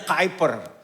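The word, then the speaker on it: Kuyper: oleh karena kehadiran mereka hyper tulisannya kiper bacanya kiper Dia seorang pendeta yang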